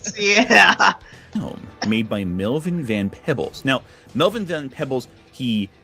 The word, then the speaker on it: Van Peebles: first Lawrence Fishburne, now fucking Melvin Van Pebbles. Look back, Cedar. I'm peeking up here. Oh my god. It is Van Peebles, Lamau.